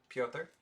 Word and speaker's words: Pyotr: Pyotr? This is Pyotr Kochetkov. Kochetkov. The pronunciation says Piotr Kochetkov.